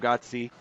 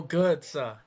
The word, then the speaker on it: Götze: half and banger from Gotzi. How do you say it? Is it Gotzi or how do you say it? Mario Götze. Mario See, Götze.